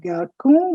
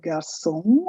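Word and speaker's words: garçon: boy we have song with a small little sign on the c which tells you it's not garcon but garcon i told you it gives c the sound of sir the next word is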